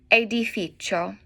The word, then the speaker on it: edificio: A building, un edificio. CIO sounds like cho.